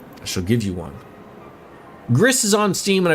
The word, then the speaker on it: Gris: Gris is on Steam and I believe it's pronounced like Greece because it's a Spanish developer.